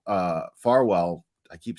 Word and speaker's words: Farwell: up here um the feds discovered that Matthew fwell uh Farwell I keep saying his name wrong uh texted Sandra burchmore over 32,000 times